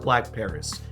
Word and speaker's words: BLVCK Paris: black paris or blvck paris but it is pronounced black paris now they are going to be doing 9999